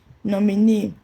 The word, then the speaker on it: nominee: Nominee, first label from the right, that's NEE.